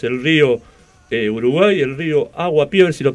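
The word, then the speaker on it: Aguapey: rodeado de ríos, el río Uruguay, el río Aguapié, a ver si lo pronuncio bien. ¿Es así, Darío? Sí, el río Uruguay y el río Aguapeín, que quiere decir agua de lluvia, así que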